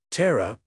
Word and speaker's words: Terra: Terra, pronounced T-R-U-H, or in the most